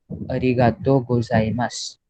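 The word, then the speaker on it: ございます: सो फिर ओहायो गोजाइमासु नहीं बोलते वो लोग इंस्टेड से ओहायो गोजाइमास.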